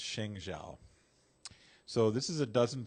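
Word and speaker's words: 生肖: But I think it's pronounced Sheng Zhao.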